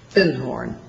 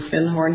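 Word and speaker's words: Findhorn: called The Magic of thorn and he corrected my pronunciation he said you mean fin horn he said our fin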